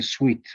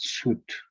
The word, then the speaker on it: suit: We don't say sweet, right? Suit. Try to say suit.